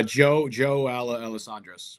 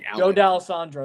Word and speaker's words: D'Alessandro: Joe Alessandros, whatever his name. I forget how you pronounce his last name, but it's a long name. It's Joe D'Alessandro. That's what it was.